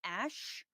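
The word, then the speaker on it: Æ: However, he said in the Joe Rogan Experience that the AE is and thank you, Davi, for the super chat. Pronounced Ash, X Ash.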